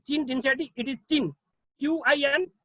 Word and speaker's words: Qin: I have selected one article from China, Qin Dinsati, right, Qin Dinsati, it is Qin, Q-I-N, it is pronounced Qin, not Queen, Qin Dinsati.